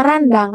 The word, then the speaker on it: rendang: di WhatsAppnya pakai bumbu rendang kalau misalkan pelafalan yang betul yaitu rendang apa randang atau rendang kalau disini renang menyebutnya randang mungkin kalau sudah